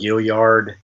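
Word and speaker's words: Gaillard: that said I think Lamont gilyard and that's the correct pronunciation was named despite how spell is a good leader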